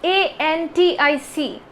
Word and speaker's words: antic: antic and antique see it's also pronounced differently the first one is a n t i c antic and the second